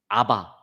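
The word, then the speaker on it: אבא: 근데 그 발음도 우리나라 말과 아주 비슷해요. 아바. 아람어로 아바가 우리나라 말 아빠예요.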